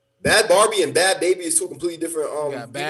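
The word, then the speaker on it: Bhad Bhabie: There's not Barbie. Baby. There's another Bad Barbie. Bad Barbie's a different person. It's Bad Baby. Bad Barbie and Bad Baby is two completely different.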